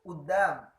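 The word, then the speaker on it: قدام: Terus di depan amam itu udam. Jadi kudam itu itu kan di depan kalau bahasa fushanya kudam atau amama itu. Nah, orang Mesir nggak menggunakan amamah tapi menggunakan kudam. Nah, kudam itu pelafalannya menjadi udam.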